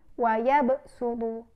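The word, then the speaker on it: ويبسط: Yang pertama yaitu pada surah Al-Baqarah ayat 245 yang berbunyi wa yabsutu, wa yabsutu. Nah, di mana pada melafalkan wa yabsutu, shad yang di atasnya sin, yaitu kita membacanya dengan huruf sin.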